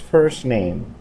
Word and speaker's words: first name: nuevamente first 2 min ya cuando agregamos la palabra neem la letra t en la palabra en realidad disminuimos prácticamente no suena y decimos first name para que no se espere tanto en pronunciar la letra t y decimos what's your